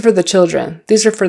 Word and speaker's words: for: one two three four it's always going to be four not four but um these are for the children these are for the children these are for the children when I'm speaking that rapidly it's more of a fur you can say these